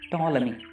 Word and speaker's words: Ptolemy: Speciality about the spelling, Ptolemy. They have written, P is silent there.